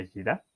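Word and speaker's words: יראה: El segundo concepto que tenemos aquí es el temor, que en hebreo se pronuncia yirá, y no es un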